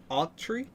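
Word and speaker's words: Autry: dyslexic yeah well how do you think you pronounce that a u t r y a tree a tree yeah okay and it has this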